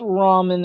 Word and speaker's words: ramen: do you mean it's raymond i'm like no dude japanese nobody lost nobody loves raven sorry ramen is a japanese food and it is pronounced ramen in japan and he's like are